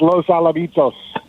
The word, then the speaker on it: Los Alamitos: Yeah, that's Los Alamitos.